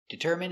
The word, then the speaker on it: determine: So, all of these words are pronounced with the in sound for the i n e. turban adrenaline heroin doctrine determine and urine Let's practice.